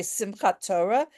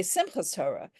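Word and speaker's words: Simchat Torah: sukus some people say simat Torah and some people say Simas Torah some people say B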